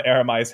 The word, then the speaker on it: Aramai: How do you pronounce Aramai? Aramai.